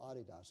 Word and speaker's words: Adidas: hear the company Adidas you probably call it Adidas but that's mispronounced it's called Adidas and the reason it's